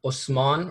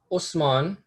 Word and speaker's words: Osman: The word Ottoman is derived from a mispronunciation of the word Osman, or the name Osman, which is itself a Turkish mispronunciation of the Arabic name Uthman.